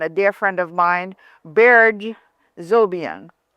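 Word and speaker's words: Berge Zobian: Island Waves and a dear friend of mine, Beer Zobian.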